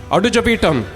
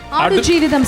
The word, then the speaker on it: Aadujeevitham: Adu Javitam. Did I say it right? No? Okay. Adu Jividam. Adu Jeevitham, sir.